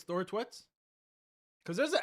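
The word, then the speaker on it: Thorstvedt: You say Thor, then you say tweets. But it's more like instead of E in tweet. So Thor, tweet, Thor Twet. Thor Twet. You're saying it's Thor Twet?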